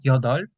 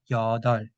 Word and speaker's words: 여덟: So because of the rule, when real and peep meet each other, only real is pronounced. For example, that's why we should say not yodol, but yodol.